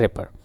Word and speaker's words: rapport: ठीक है, RAPPORT लिखा जाता है बट इसको बोला जाता है रैपर।